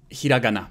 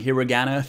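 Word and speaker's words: ひらがな: through that what is hiragana so a lot of American people would say hiragana please don't if you're learning Japanese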